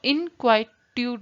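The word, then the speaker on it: inquietude: अब यहाँ पे देखते हैं इनक्वाइट्यूड का जो होता है, इसकी वजह से प्रोनाउंसिएशन अगर देखते हैं तो इनक्वाइट्यूड होता है, क्वाइट होता है, इनक्वाइट्यूड इस तरह से बोलते हैं इसको।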